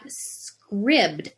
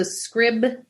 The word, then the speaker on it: Scribd: And then I've got Scribd, which is, everybody knows Audible, which is an online audiobook place where you can have a subscription and get credits for audiobooks.